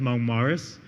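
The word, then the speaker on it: Mont Moritz: And there's the people that went to the village was called Monk Moritz. Well, we pronounce it Mong Morris.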